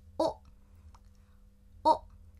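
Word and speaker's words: を: 一个假名读成哦哦，注意虽然它是哇行的，但是这个 W 已经不发音了，除非在有一些歌词里面为了特别强调才会发出哇的那个音来。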